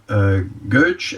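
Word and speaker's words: Gøtzsche: et chercheur danois Peter Goetsch. Est-ce qu'on prononce? Oui, on prononce Goetsch.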